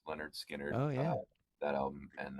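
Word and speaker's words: Lynyrd Skynyrd: My mom bought like a bunch, or a few of them, a handful, and I know it was Leonard Skinner, the pronounced Leonard Skinner.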